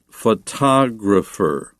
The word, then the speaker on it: photographer: Be careful, though, with the accent or the stress of those words. Photograph, but photographer, photography, and the adjective photographic. So you can put the accent on the first, second, or third. syllable depending on its grammatical usage.